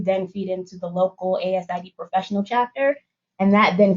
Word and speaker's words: ASID: already talking about um asid it's always pronounced asid not acid that's not a thing